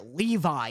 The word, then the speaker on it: Levy: there we go yeah he said like angstrom like Levi or something I call him angstrom Levy cuz I read it's